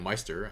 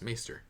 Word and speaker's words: maester: benefit from being a Meister I don't M I don't know why I'm saying me it because ma AE is pronounced my but then I've played Final Fantasy 10 before maester it's maester all right anyway let's